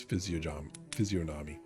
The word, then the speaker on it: physiognomy: It's physiognomy. I think the G is silent. I want the G to be silent.